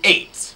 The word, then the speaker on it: Ei8ht: of Rafael Albuquerque and Mike Johnson bring you eight no not a eight H it's kind of